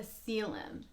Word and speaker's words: coelom: have what's called a coelom and you wouldn't know there's the word spelled out you pronounce it kind of sounds like ceiling but it's CLM and a coelom is